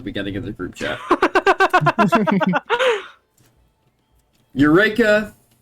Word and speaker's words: Yreka: of the group chat urea oh it's pronounced why re you know what Greg I've said it too many times at this point to go back on it I'll just forget it's urea now uro was once the